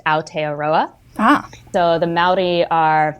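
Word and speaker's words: Aotearoa: for the country of New Zealand and it's pronounced a aroa ah so the mai are they're not native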